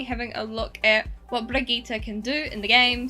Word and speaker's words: Brigitte: I thought it was Brigitte, but no, it's Brigitte.